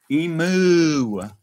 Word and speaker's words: emu: They say emu, like Mewtwo.